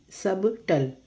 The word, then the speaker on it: subtle: SUBTLE, subtle, no, subtle, B is silent.